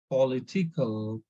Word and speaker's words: political: Then, when an adjective ends in ICAL, stress the syllable before the ICAL ending. So in this case, you see this this word political.